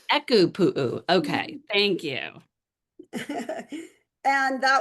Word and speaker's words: ʻEkūpū: And while you do that, will you help me with the pronunciation? Echo pu. Echo pu.